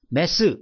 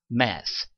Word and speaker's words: math: 메스 이렇게 발음하시는 거냐? 그것이 아니라 math 이렇게 발음을 하시면 되겠고요.